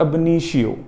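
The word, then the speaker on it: ab initio: The pronunciation is अबनीशियो।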